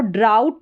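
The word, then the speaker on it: drought: फिर यहां पर देखें डी आर को जब डी आर कॉम्बिनेशन साथ में आता है तो इसको ड्र करके पढ़ा जाता है और ये पूरी स्पेलिंग का प्रोनाउंसिएशन यहां पर दे रखा है। इसको ड्राउट करके प्रोनाउंस करेंगे और ओ यू जी एच आउ इसका उच्चारण है।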